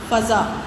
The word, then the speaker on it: فضا: احترام۔ اگلا لفظ ہے فضا، فے پہ زبر، زواد پہ زبر، فضا۔ اختتام، الف کے نیچے